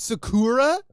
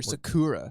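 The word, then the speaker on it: 桜: killer is it with three syllable words in japanese it's a pattern of either down up up or up up down not down up down so it's not sake it's not sakura sakura sakura sakura makes sense this is my little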